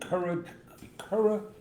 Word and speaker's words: keratoconus: So John has a condition called keratoconus. Gorgeous. I don't know why I'm mispronouncing it.